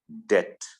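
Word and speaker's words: debt: main विषय क्या था डेट नॉट डेप्ट बट it's pronounced S डेट यानी उधार ये सारा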